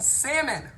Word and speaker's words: salmon: and I instead of do not pronounce the R I mean nope the L in salmon Salomon Solomon Solomon was